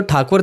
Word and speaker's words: ठाकुर: असल में उनका सरनेम तो ठाकुर था पर क्योंकि ब्रिटिशर्स को प्रोनाउंस करने में परेशानी होती थी इसलिए वह टैगोर बोलने लगे।